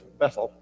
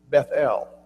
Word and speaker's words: Bethel: And what I was reading said when you pronounce it, it's not like we would normally say it's Bethel, it's Bethel. Both syllables should be highly accented.